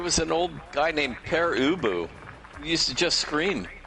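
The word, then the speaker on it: Pere Ubu: in like I don't know the name it's pronounced per ubu and you know so find it if you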